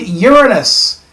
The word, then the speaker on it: Uranus: Next, we find Uranus. And yes, that's how it's pronounced.